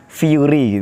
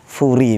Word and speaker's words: Furi: Kalau anak-anak mau manggil saya Fury juga boleh. Kalau dalam bahasa Inggris bacanya Fury gitu. Kalau dalam bahasa Indonesia Furi begitu.